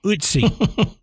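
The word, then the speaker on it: Ötzi: So Adam actually helped me when we started, helped me pronounce this first one correctly. So this is the curse. You're welcome. The curse of Utsi.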